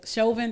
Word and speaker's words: Chauvin: enough i keep saying i don't think that chauvin that's how you say his name i don't